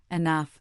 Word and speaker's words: enough: But it stubbornly makes an sound in words like laugh, enough, and tough.